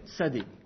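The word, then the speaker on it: צדי: Et donc, en fait, aujourd'hui, il se prononce un peu comme si vous aviez un T suivi d'un S. T. Et cette lettre s'appelle Tsadé.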